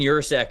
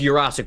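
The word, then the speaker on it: Yurosek: to be a oh it's it's osic by the way I that was muscle memory from me I looked up the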